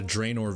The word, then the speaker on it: Draynor: Yeah, we got a Draenor village.